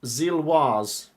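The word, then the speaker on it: Gilloise: Okay, just to remind you, Gillowy is pronounced Zilwaz.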